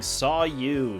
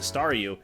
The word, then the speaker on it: Staryu: was still just a Staryu, I could never pronounce its name right. It always ended up sounding like saw you.